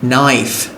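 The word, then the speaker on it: knife: জানো নাকি কোন কিছু একটা নো কে এর উচ্চারণ হচ্ছে না কে এর পর এন নাইফ নাইফ মানে চাকু মি মানে হাঁটু নাক ঠক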